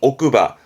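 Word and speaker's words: 奥歯: 발음은 오크바.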